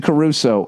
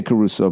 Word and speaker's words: Crusoe: All right, Robinson Crusoe. Crusoe. Huh? Crusoe. The way it's spelled, Crusoe. Robinson Crusoe? Everyone says Robinson Crusoe, but it looks like Crusoe. I say Caruso because I always think of Ray Caruth.